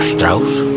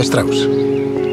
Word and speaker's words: Strauss: ¿Señor Strauss? Se pronuncia Strauss.